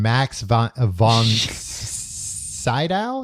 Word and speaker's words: Max von Sydow: Linda Blair and Max von Sydow, is that how you say his name?